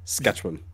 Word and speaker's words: Saskatchewan: You're putting way too many syllables there. Saskatchewan.